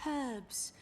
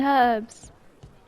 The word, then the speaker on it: herb: in the H is the H is silent I was like okay